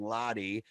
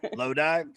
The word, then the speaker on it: Lodi: with their next release bad moon rising and lottie in august they released their third rec what